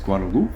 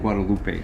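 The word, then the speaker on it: Guadeloupe: So, and some people, by the way, pronounce gu. It's Guadaloop. Guadaloop, Guadaloop, and Guadalupe.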